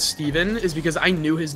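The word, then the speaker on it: Stephen: You should know as an American, when it's S-T-E-P-H-E-N, that it's... Okay, but think about it, though. Like, the most famous person with the spelling of that name pronounces it Stefan. I wonder if more pronounce it Steven or Stefan. I think it's Stefan now.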